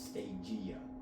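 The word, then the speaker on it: Stagea: I don't necessarily know exactly how to pronounce it, but I think it's Stagia. Like Okay. Gia. Like Pangea.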